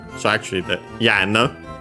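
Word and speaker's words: 円: Yen is pronounced like that in other languages because of it's from a past pronunciation of n. Yeah, nowadays with the changes in it has become n in contemporary Japanese, and we have studied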